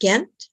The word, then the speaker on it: Gent: are in Belgium yes I am is it pronounced gent again it is yes okay my hometown yeah